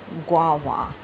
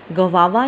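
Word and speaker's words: guava: गवावा इसको नहीं पढ़ना है, इसको प्रनाउंस करना है, इसको बोलना है आपने गवा.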